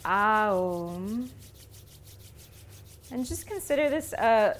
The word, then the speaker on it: Om: We're going to start our session today with 3 rounds of Om, singing it stretched out, so really drawing out each syllable so that it sounds like Aum.